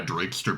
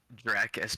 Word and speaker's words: Drakester: one knows my last name that's how you pronounce it yeah draker bacon wow Dr it sounds like you just had like an epiphany honestly this whole time I thought it was like draer bacon yeah the funny thing is is a